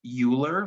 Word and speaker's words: Euler: Euler is spelled like this. As Americans, we may feel that this would be pronounced Euler, like a ruler, but in German it's Euler, and his name is starting with an E.